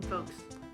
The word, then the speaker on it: folks: The L is silent. But which one? In folks. Folks. You don't say the L.